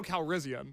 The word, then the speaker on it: Calrissian: No, you've got an extra syllable. It's Lando Calrissian.